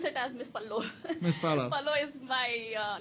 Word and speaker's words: MS_PALLO: yes, we pronounce it as Miss Pallo.